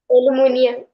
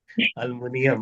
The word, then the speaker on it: एल्यूमिनियम: एल्युमिनियम। एल्युमिनियम। एल्यूमिनियम। हाँ बढ़िया बढ़िया, एलयू एलयू ठीक है, एल्यूमिनियम। अल्मुनियम अल्मुनिया कहते रहो। एल्यूमिनियम बोलने वाले लोग बहुत बढ़िया।